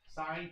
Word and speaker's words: sine: Do not refer to them as sin, cost, and tan. You sound like an idiot. Okay? Sine, cosine, and tangent is how we call those.